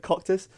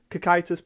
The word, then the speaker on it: Cocytus: blue deck itis which I've learned how to pronounce now sorry that I kept calling it caucus Cocytus blue and heavens yellow I'll be doing a